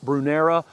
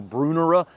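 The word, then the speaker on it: Brunnera: Next up is a Brunera or a Brunera. I hear this plant pronounced both ways, and I think the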